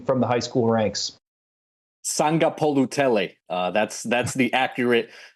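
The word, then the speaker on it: Sagapolutele: Sangapolutele. That's the accurate pronunciation there for one of the best prospects nationally.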